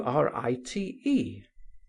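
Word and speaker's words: right: false refinement, he mentioned the following words, which though widely different in signification, are pronounced exactly in the same manner. Write w i g ht. Write w wr i t e.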